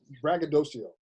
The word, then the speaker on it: braggadocio: But the word is braggadocio.